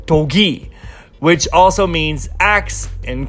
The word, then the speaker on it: Dogi: While this one is actually full Korean with the Korean for 2, so it's Dogi.